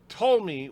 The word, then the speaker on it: Ptolemy: The P is silent, as in the Ptolemy, when the Greek where the Greek rulers of Egypt after Alexander the Great's empire and before Rome took over.